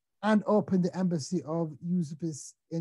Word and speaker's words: Užupis: going to have to tell me how to pronounce this, Max, but Užupis. Užupis.